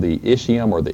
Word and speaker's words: ischium: then this lower posterior portion is called the ischium or the ischium it's i-s-c-h-i-u-m-c-h usually in latin is pronounced with a k sound all right so